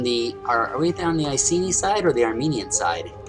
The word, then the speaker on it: Iceni: we have uh the ultimate battle armenia versus icini i just learned that from cliff that's how you pronounce it not icing i'd always now i don't think buddhica is